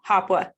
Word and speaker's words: HOPWA: We say it HOPWA, but it stands for Housing Opportunity for Persons with AIDS and HIV. Excellent, thank you. So I will use the acronym and now know. HOPWA, Voucher Program and Housing Choice Vouchers.